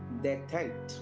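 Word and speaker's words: détente: டெட்டன்ட் அப்படின்னு எழுதியிருக்காங்க. இது பிரெஞ்சு டெரிவேஷன், அதனால டெட்டன்ட் அப்படின்னு உச்சரிக்க வேண்டும்.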